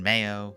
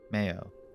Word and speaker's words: Mayo: 32 irish counties uh pronunciation mayo much like the condiment uh from the irish uh may eo mayo uh above galloway is